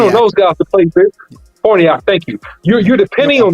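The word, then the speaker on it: Farniok: Are you depending on Farinack? Excuse me for mispronouncing his name. But you're depending on those guys to play Forniak, thank you.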